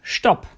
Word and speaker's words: Stopp: s like phos S at the start of a word this sounds like for example on stop at the end of